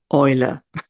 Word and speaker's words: Eule: Now, in German, we actually pronounce it Eule.